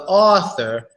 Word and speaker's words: author: aww oh yeah aww it's a little deep of an a sound author but that's because the U is right after it so that's author author